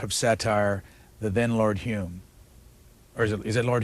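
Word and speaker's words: Home: satire, the then Lord Hume. Or is it Lord Hume? Is that, yeah, that's right. the way you pronounce it's H-O-M-E.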